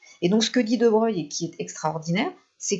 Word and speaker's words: de Broglie: son nom italien, mais ses contemporains qui le côtoyaient à l'époque on continue à prononcer son nom à l'italienne, donc on ne dit pas De Broglie, on dit bien De Broglie.